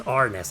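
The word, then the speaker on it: Arnice: In this gothic style and beautifully looking world you play as Arnis, pronounced as Arnes actually.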